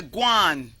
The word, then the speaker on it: Gwan: If I say guan, which is spelled Gwan, it's go on.